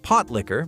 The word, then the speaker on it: pot liquor: Pot liquor, pronounced pot liquor by true Southerners, wasn't simply about survival and simplicity.